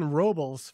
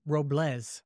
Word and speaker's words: Robles: you know I've been I've been calling him Steven Robel forever but I think it's actually pronounced Robles okay so stepen you're